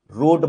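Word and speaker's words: wrote: तो क्या हो गया रोट बन जाए डब्लू आर ओ टी रोट लिखता है लेकिन ये डब्लू साइलेंट होता है पता इसको प्रोनाउंस कैसे करते हैं रोट लिखते हैं वी रोट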